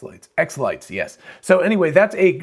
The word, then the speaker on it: xLights: light wait is it x lighter x lights x lights yes so anyway that's a like a christmas